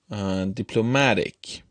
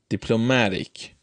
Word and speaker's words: diplomatic: in the third column the adjective or suffix ech I see this is an adjective all suffix it moves the stress to the syllable immediately preceding it immediately preceding I see or ich which in these words is the third syllable diplomatic diplomatic for a